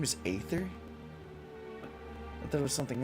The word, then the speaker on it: Aether: be what uh how do you say that aether his name is aether i thought it was something else i finally